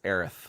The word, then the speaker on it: Aerith: But the correct pronunciation of that name is Aerith.